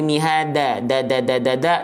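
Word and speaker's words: مِهَادًا: Oke, jadi bukan mihada, tapi mihada. Bukan dada.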